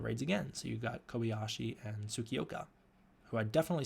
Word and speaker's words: Kobayashi: can 100% remember that their names are Tsukioka and Kobayashi. That's how you pronounce them.